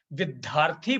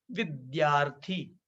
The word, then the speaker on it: विद्यार्थी: पुनः एक बार देखें यह जो अक्षर है यह द्या है इसका उच्चारण आधा द और य की तरह होना चाहिए विद्यार्थी बोलना अशुद्ध है शुद्ध बोला जाएगा विद्यार्थी याने द और या